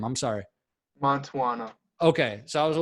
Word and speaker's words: Mantuano: Tap, So you gotta kind of say it like it is. So, you know, you gotta talk it like Mantuano. Mantuano.